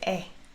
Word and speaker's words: 의: So this is possessive. That's why I pronounce as 에.